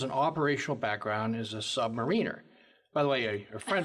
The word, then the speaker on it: submariner: Submariner, not submariner. Not submariner. That's exactly right. Careful how you pronounce it, because a submariner implies that one is below a mariner.